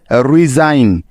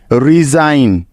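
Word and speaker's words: resign: আইন সুতরাং রিজ যোগ আইন মিলে হয়ে যাবে রিজাইন রিজাইন রিজাইন মানে হলো পদত্যাগ করা আই থিংক তোমরা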